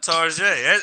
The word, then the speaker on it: Target: at target target yeah tarjay that's how you say it when you want to be fancy and you know that